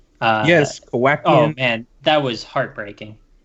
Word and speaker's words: Kowakian: And there Well, were Jawas and On the species call out, am I pronouncing this right? Kawakians? yes, Kowakian.